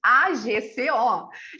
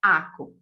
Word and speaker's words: AGCO: Porque eu acabei de saber, eu digo para vocês que eu sempre chamei a empresa de AGCO. E agora eu fiquei sabendo que não, que a pronúncia correta é ACO.